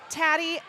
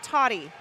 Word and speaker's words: Tatty: Tatty, not Totty. I feel like the last time I got a pronunciation sheet, it said Totty.